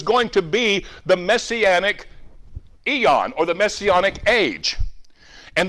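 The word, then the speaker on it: aion: word here is the word ion we would pronounce it Eon which simply means an age a season of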